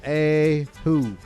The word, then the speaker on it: Oahu: oh oh is that am i saying it right oahu it's pronounced a who shh ahu gardner squad